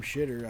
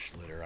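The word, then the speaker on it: Schlittler: He's been battling against Cam Schter. I'm just kidding. It's pronounced Schlitter.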